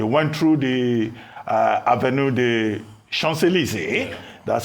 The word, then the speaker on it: Champs-Élysées: They went through the Avenue des Champs-Élysées. That's how it's pronounced.